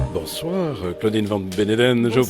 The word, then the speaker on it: Claudine Van Beneden: bonsoir, Claudine Van Beneden. Bonsoir. Je prononce bien votre nom?